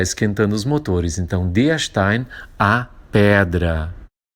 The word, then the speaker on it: Stein: E Stein, lembrar essa pronúncia, o S na frente do T, Stein tem esse som chiado e EI se lê Ein em alemão.